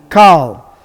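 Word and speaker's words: כל: How do you pronounce it? Kal, which is the word for all.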